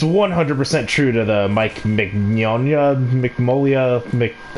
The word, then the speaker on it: Mignola: Yeah, it's 100% true to the Mike Mignola. Mignola. Okay, yeah, it's actually pronounced the way it's spelled.